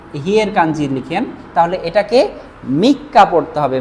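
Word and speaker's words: 三日: কা দিয়ে হলো, মনে করেন আপনি 3 লিখেছেন, 3 এরপরে যদি এই হিয়ের কাঞ্জি লিখেন তাহলে এটাকে মিক্কা পড়তে হবে, মিক্কা।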